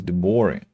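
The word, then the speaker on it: de Bari: So it's Nicholas de Bori. I wouldn't have guessed that. Nicholas de Bori. But it's stressed, so the stress goes on the first syllable, right?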